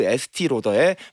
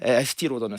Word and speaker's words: 에스티 로더: 라우더도 유럽식으로 발음하면 로더가 되는 겁니다. 그래서 이 프랑스 느낌을 나게 하는 게 목적이었다고 합니다. 그래서 에스더 라우더라는 본인의 이름은 에스티 로더라고 하는 자신의 이름으로 자신의 이름의 유럽식 발음으로 바꿔서 사업이 시작된 것입니다.